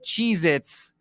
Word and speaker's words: Cheez-It: we learned from the Cheez-It boy it's not cheese it's it's Cheez-It crackers is how you say the pronoun the the proper way you gotta say on